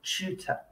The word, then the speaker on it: tutor: or something like that that is called your tutor okay so that's the tu sound pronounced chew next we're going to